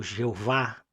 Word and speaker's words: Jeová: espírito do Yudi rivavier do nosso Javé ou Jeová dependendo da pronúncia do país que você mora aqui na América do